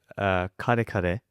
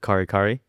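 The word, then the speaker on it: kare-kare: It's called kare kare. Okay. So it's Kare. When I was young, I used to call it kari kari. Yeah. Because I didn't didn't know the pronunciation, and then my family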